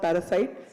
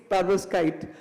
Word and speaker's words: perovskite: I normally go wrong in my pronunciation. and I call it parasite. It's not parasite, it's perovskite, but I call it parasite in my head.